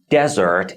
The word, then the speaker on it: desert: dessert what's the difference when you put the stress on the first syllable desert it means but if you put the